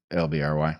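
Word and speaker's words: LBRY: I think we should we would be thrilled to and of course um Odyssey accepts um LBR Y. LBR Y. Yeah, which I think they pronounce library, but yeah, LBR Y.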